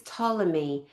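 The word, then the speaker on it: Ptolemy: of Egypt, Cleopatra, Tommy, her last name is Tommy. And there's a silent P for perfect in front of that word. Tommy, P O L M E, however you spell it.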